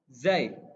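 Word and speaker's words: ز: Nah, selanjutnya ada huruf zai. Zai. Kalau tadi dal itu digigit, dal. Kalau zai nggak digigit ya, dia ada di belakang gigi. Zai. Di langit lidahnya di langit-langit atas. Di langit-langit atas. Zai.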